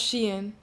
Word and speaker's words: Shein: The last company, and this is a company that these young folk be using, is Shein. Shein, I'm probably saying it wrong. It's pronounced Shein.